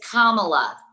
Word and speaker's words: Kamala: tell frank you guys it's kamala that's how you pronounce senator harris's name yes i acknowledged that